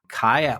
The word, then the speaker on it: Kai: And then the other one that I just remember, Kai. Oh, I guess the author just told me that it's pronounced K Allard Liao over on Twycross, where he's standing at this pass.